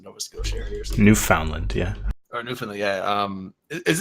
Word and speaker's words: Newfoundland: Newfoundland, yeah. Or Newfoundland, yeah. Is it Newfoundland? I've always called it Newfoundland. It's Newfoundland, but if you slow it down, it's Newfoundland.